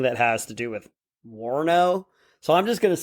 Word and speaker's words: Warno: Warno?